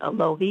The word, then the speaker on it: Alohi: That's like aloha, but with an I instead. Alohi, Alohi, right?